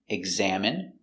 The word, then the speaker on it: examine: Words ending in i can have different pronunciations. All of these have the sound in. Imagine, examine, engine, discipline, feminine, and masculine.